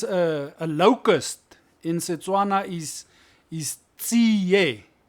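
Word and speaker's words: tsie: For instance, a locust in Setswana is tsiye. It's spelled T-S-I-E. Tsiye. Not ti, but tie. Yeah, you mustn't say tsi. It's tsiye.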